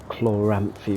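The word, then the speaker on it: Chloranthy: if you're familiar with Souls it's like the Chlor rampy ring that's how you say it uh you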